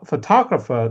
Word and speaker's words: photographer: And then for photographer the stress is on the second syllable.